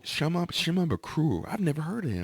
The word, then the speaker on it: Shimabukuro: Ukulele, Jake Shimabukuro. Shimabukuro.